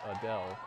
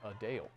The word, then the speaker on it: Adele: many pronounce it as Adele the singer says it's actually a Dale she noted the correction